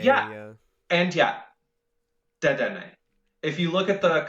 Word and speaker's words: Dedenne: That is the correct pronunciation of the Pokemon's name. However, that is morally wrong. There's no accent above the E, the last E, to let us know that you're supposed to pronounce it.